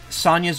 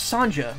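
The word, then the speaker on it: Sonja: you know if um Sonia's missions or some is it son it's Sanja right it's not pronounced Sonia right do you know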